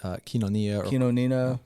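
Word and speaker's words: κοινωνία: I know y'all have had you've been using the theme word, koinonia. Koinonia. Yeah, koinonia. Yeah. There's 3 different pronunciations. You can. Koinonia is fine. That's the Erasmian pronunciation, probably the most common.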